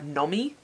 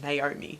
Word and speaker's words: Nomi: I did absolutely every time pronounced Nomi, whatever her name is, as Naomi, because you add in an extra letter and you've got Naomi, and that's just what I kept reading it as for some reason.